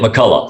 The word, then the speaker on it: McCulloch: I said McCulloch, and then Google told me it's McCulloch. Yes. In English. So please tell me, how do I pronounce it correctly? That's it, McCulloch. That's right.